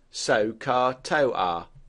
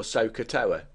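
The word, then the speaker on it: SOHCAHTOA: most famous is probably the following word pronounced soar to or sooa which helps you remember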